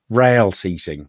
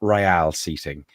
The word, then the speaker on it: rail seating: much as you like it's rail seating not really eating it is not you're